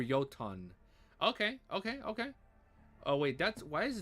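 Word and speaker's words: Jötunn: Pronounced Yotun, I think. Yotun. Or Yotan.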